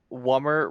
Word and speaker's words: Wummer: Wummer rhymes with Hummer.